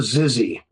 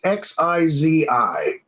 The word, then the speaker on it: Xizi: There is a creature in China called the Zizi. I might be mispronouncing. It's Xizi. Okay.